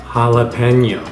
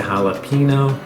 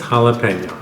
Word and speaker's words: jalapeño: the side of that oh and the correct pronunciation is jalapeno being mexican i actually try to train uh train people to pronounce it correctly a lot of people say jalapeno which makes me go but it's jalapeno okay so i'm going to continue cleaning these